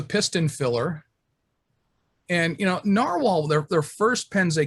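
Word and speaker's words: Nahvalur: guys that doesn't spill that does not spell narwhal they still pronounce it narwhal because apparently they had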